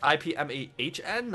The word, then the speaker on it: Ip Man: Ip Man, his name is spelled I-P-M-A-N, but it's more so like guess it's like IPMAHN. I think there might be something in his first name.